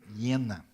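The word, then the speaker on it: Jena: o seu doutorado em iena que se escreve com J mas se se fala yena em alemão e é interessante que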